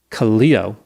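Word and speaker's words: Kaleo: So Mathew lived in Santa Barbara with his wife Abby, a two-year-old son, Khaleo is how they say it's pronounced.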